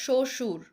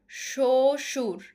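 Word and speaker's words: শ্বশুর: তারপরে দেখো শশুর শশুর সাধীন সাধীন। এখানে কিন্তু ব এর উচ্চারণটা হচ্ছে না। কারণ শব্দের আদিতে ব ফলার উচ্চারণ হবে না।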